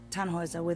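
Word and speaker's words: Tannhäuser: what's your name Tannhauser we'd pronounce it tan was away the long load German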